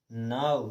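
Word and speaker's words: now: लेकिन कुछ अपवाद हैं, कुछ शब्द ऐसे हैं कि उनको हमें ओ की मात्रा ना लगा करके आव लगा करके हमको पढ़ना है, कुछ हट के अलग पढ़ना है। जिस प्रकार से हमने यहाँ पढ़ा वाव, एलाव, हाउ, नाउ।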